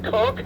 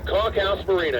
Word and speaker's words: Conch House Marina: It is the Conch House Marina. I've heard conch, I've heard all kinds of things. But they call it the Conch House Marina, and it's a local favorite here in St.